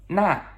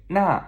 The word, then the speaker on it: 那: Now, that is 那, okay? 那, N-A, fourth tone descending.